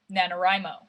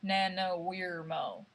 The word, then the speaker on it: NaNoWriMo: because i'm doing nanowirmo nanowrimo nana national novel writing month i would assume that third syllable is wry because you're writing not weirding national novel writing month nana weirmo well whatever however you